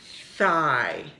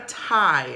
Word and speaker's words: thigh: so we have your thigh it's not a tie a tie is something different but we're going to